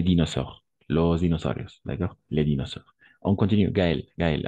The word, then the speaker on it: dinosaure: Dinosaure. Dinosaure. Anna. Dinosaure. A et U, on va prononcer comme un O, d'accord? Dinosaure. O.